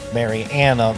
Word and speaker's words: Mary Anna: Mary Anna, that's correct. That's the correct pronunciation.